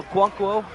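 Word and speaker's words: Okonkwo: caught by the title no cuankwo that's how you say his name luckily I wasn't a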